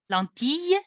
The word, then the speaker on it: lentille: Lentille, you should pronounce it.